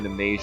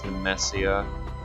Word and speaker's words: Nemesia: Instead of Nemasia, it's Nemesia.